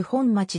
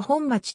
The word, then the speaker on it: 本町: 長名であり東京特別区内で唯一ほんまちでほんまちと読む長名でもある北側に隣接する中の国もほんまちがあるがこちらの読みは本町である渋谷区